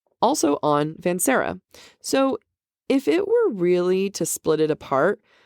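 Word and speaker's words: Vanserra: So for our listeners, Vansera of the greenhouse is Lucian's last name. Right. And it's spelled Serra.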